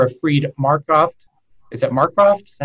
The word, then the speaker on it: Marcroft: Is it Marcroft?